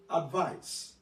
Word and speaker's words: advice: Notice the pronunciation of this first one, advise. The second one, advice.